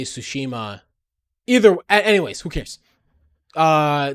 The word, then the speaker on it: Tsushima: finished goes to sushi sushima um the iki island expansion i i the the correct way to say it is tsushima and i am trying